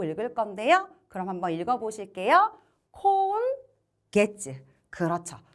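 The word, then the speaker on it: 今月: 이번에도 똑같이 게츠라고 읽을 건데요. 그럼 한번 읽어보실게요. 콘 게츠.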